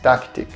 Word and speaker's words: Tactic: O modelo desse quadro é o taktic. Eu vou deixar aí taktic literalmente escrevendo. Fala-se, pronuncia-se em inglês tactic.